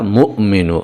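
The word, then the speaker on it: مؤمن: যদিও বাংলায় লেখা হয়েছে মুমিনু কিন্তু আসল উচ্চারণটা হচ্ছে ইয়া মুমিনু এখানে মিমের পরে একটা হামজা রয়েছে একটুখানি ধাক্কা হবে এভাবে এখানে যে কথাটা বলা হয়েছে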